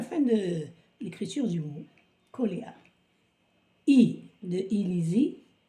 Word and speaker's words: Koléa: En arabe, on dit Qli'a. Qli'a. Donc, en français, on va se prononcer Koléa.